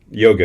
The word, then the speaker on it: yoga: So, the subtleties with how the A is pronounced. Yoga is a good example. It's a short A. Yoga.